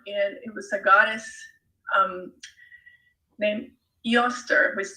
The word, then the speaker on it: Eostre: So it's the name of a festival, Easter, and it was a goddess named Eostre, which is spelled Eostre, and she was the Anglo-Saxon goddess of spring and dawn.